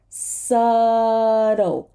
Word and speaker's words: subtle: and this last word remember the dark L is subtle this tea becomes a flap T because it's trapped between two voiced sounds so it becomes a a flat t s subtle subtle and dark L subtle oh so now I'm